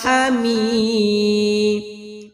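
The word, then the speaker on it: حميد: ইন্নাকা হামিদ হামি হা কোনো টান হবে না, মি টান হবে এক আলিফ, কারণ জেরে বাম পাশে জজমালা ইয়া।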